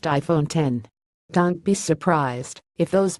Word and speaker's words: iPhone X: 8 nor the A+ it's the iPhone X pronounced iPhone 10 don't be surprised if